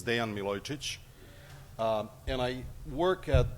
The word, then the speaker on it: Dejan Milojicic: thank you sorl um a slightly better pronunciation of my name is Dean Milotic um and I work